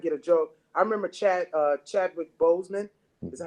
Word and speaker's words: Chadwick Boseman: I remember Chadwick Boseman.